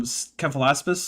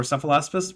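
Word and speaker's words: Cephalaspis: Does that mean that you don't think that any evolution occurs to go from Kealaspus or Sephilaspus depending on which way you want to pronounce it to the cilac?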